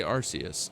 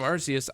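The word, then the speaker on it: Arceus: And in the case of Arus, I think that that applies because again, Archus just sounds so aggressive. But Arus just sounds so good. It's so like the nice soft C sound, the soft like S sound that it makes. It just is it feels better. It feels better to say than Archus.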